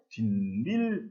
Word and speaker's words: 뒷일: 분명히 뒤라고 하는 말과 일이라고 하는 말 사이에는 아무것도 없었는데 분명히 발음할 때 뒷일 이렇게 니은 소리 두 개가 덧납니다.